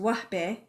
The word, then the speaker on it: Wahbeh: is a Arabic surname it's an Arabic pronounced wbe and it means gift